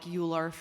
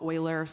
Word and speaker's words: Euler: And so one example that I think about is a protocol like Euler or Euler, depending on how you pronounce it, that has recently launched on Avalanche and gives the access to customized lending markets.